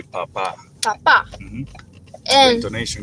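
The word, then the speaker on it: papá: And then if you do papa with an accent on the A at the end, You say papa.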